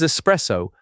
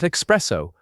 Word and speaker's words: espresso: This one is not about a silent letter. It is about a wrong letter that people add. There is no X in this word. It is espresso, not espresso.